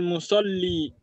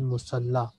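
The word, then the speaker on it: مصلى: And this word is not musalli, this is musalla. This is not ya, this is alif maksura. It is pronounced like alif.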